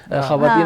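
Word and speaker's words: خواتین: pronounce किया जाता है लिखेंगे खवातीन लिखेंगे खवातीन बट पढ़ेंगे ख्वातीन लिखेंगे दस्तरख्वान बट पढ़ेंगे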